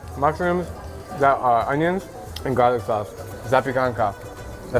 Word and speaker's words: Zapiekanka: Zapiekanka.